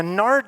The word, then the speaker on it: nard: ointment and pure nard now nard doesn't sound very good to us right it rhymes with lard I mean that's not